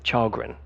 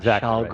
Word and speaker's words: Kjellgren: Yes, but finally he told me it's Kjellgren, not Kjellgren, right, which is what I say.